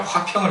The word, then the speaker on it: 화평: 화평, 평화라고 하기도 하고 평안이라고 하기도 하는데 여러분 발음 잘해야 돼요. 화병이 아니에요. 화병을 원하는 게 아니라 화평을 원해요.